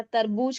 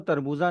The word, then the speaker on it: तरबूज: तो जो तरबूज है वो तरबूजा नहीं बोलते। उसको तरबूज बोलते हैं।